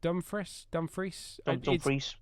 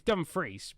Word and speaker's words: Dumfries: Bit of news coming from football journalist Fabrizio Romano is that Denzel Dumfries. It's Dumfries, but I don't want to. It's like the place Dumfries in Scotland. It's spelled exactly the same.